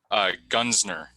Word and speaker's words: Gunzner: Gunsner. Thank you. It's a difficult German name. Oh, then you better spell it.